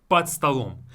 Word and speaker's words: под столом: We replace it again, we devoice it again. Под столом.